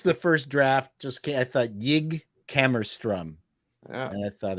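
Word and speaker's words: Jig: Yig. Right. Yig. Yig? With Okay. a J. How do you spell that? J-I-G? He just said with a J. J-I-G. J-I-G.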